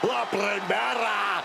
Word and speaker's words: La Primera: La Primera, Stephanie Vaquer. You need to roll your R's a little bit on that, man. La Primera.